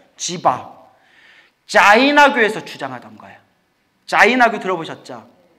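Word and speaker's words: जीव: 이것을 지와라고 불러요. 지와. 예, 지바라고 불러요. 지와, 지바. 지바와 지와 중간 발음이더라고요. 지바.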